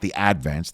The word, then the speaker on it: Advance: the Staten Island Advance, or as the locals would call it, the Advance. They put the accent on the first syllable.